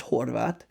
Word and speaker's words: Horvath: very common last name it's pronounced Horvath and uh it actually weirdly